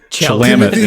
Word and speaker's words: Chalamet: Timothy Very- Chalamet. Chalamet. Chalamet, I think it's how it's pronounced.